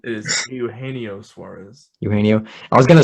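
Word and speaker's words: Eugenio Suárez: Did I pronounce the name wrong? It is Eugenio Suarez.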